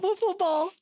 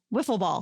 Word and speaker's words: Wiffle: It's not waffle ball. It's so spelled with an I. W I How often are you riding wiffle? Wiffle ball.